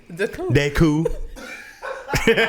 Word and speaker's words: Da'Coon: my name is adeku you just don't pronounce the n deku it's french oh man that's that